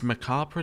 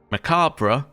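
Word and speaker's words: macabre: Macabra is how you say it in the UK. Macab is how you say it in the US. You say it differently in French, which is what both of them are ruining.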